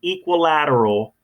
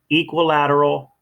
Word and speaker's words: equilateral: right let's keep moving sounds like equal that's right you also